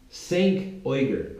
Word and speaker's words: Cenk Uygur: Cenk Uygur, I believe is the correct way to pronounce his name.